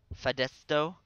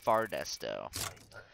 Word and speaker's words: Fardesto: Fadesto? Fardesto, really? I believe the district is pronounced Fardesto.